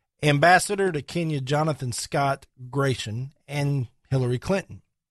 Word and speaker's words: Gration: to Kenya Jonathan Scott Gration and Hillary Clinton. Now, Gration, and I believe that's how it's pronounced, G-R-A-T-I-O-N.